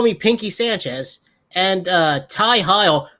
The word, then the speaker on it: Heil: Ophidian, Don't Call Me Pinky Sanchez, and Ty Heil. I'm not going to call him Hill because it's spelled with a Y. It's Ty Heil.